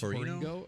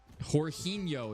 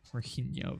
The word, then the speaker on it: Jorginho: Horino? Horino? Is that how you say it? A lot of silent letters there. Jorginho is how you pronounce it.